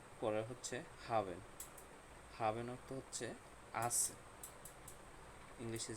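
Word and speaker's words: haben: তাহলে এটা একটু দেখি, হা উন্ড আ, হা। তারপর হচ্ছে বে এ এন, বেন, দুটো মিলে কি হলো? হাবেন।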